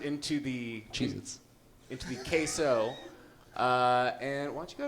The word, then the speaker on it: queso: So, would you like some queso?